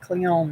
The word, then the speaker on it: cleome: Huey clear um please the E is pronounced at the end cleome because we owe me okay listen oh hi